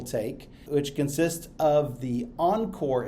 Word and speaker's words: ENCOR: For example, the CCNP Enterprise track, which most people take, which consists of the Encore exam, that's spelled ENCOR, as well as one elective exam that you can choose from a list of several.